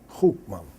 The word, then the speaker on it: Goeman: G-O-A, you will say Goeman. Goeman, as you pronounce it.